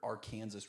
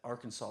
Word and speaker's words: Arkansas: I I saw that uh some people said that uh Arkansas is pronounced like the French way that the French would pronounce it and then Kansas is pronounced like the English way that the British would pronounce it.